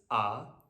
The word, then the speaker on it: あ: so on for hiragana the name of the character is the sound that it makes and it will always make that sound whenever you see it so this is ah and it's always pronounced